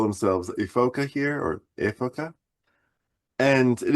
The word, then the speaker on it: Ephoca: And then it is it is made by Ephoca, e p h o c a. Ephoca. That's how they say it in Italian.